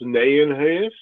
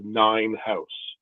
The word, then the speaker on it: Nijenhuis: It's properly pronounced Nijenhuis, but in reality, everybody says Nijenhuis.